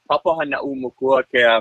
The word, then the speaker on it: Papahānaumokuākea: It's pronounced the Papahānaumokuākea Marine National Monument.